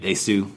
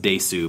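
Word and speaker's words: です: Kishōtenketsu, kind of like desu. You know, it's not pronounced desu most of the time, it's just pronounced des.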